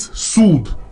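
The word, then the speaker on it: soothe: हमारी लिस्ट में सूद सूद के स्पेलिंग में आप देख सकते हैं टी एच के बाद ई लगा हुआ है तो इसे आप ए की मात्रा नहीं पढ़ेंगे इसे आप सूद नहीं पढ़ेंगे इट्स सूद ओके इसका प्रोनंसिएशन सूद होता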